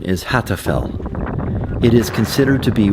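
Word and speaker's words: Hattfell: It's Mount Hatfett. And that is the end of the Black Desert. The correct pronunciation is Hatfell.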